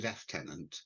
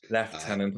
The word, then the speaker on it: lieutenant: I'll correct your pronunciation so it's Deputy left tenant left tenant I do apologize um